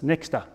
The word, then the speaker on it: Nexter: It was all just the one thickness, Nexter, like rhyming with Dexter.